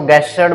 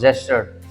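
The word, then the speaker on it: gestured: हाँ, गलती क्या होती है, इसको गेस्चर्ड बोल देंगे कुछ स्टूडेंट, ग का साउंड नहीं आएगा, ज का साउंड आएगा। So this is pronounce जेस्चर्ड।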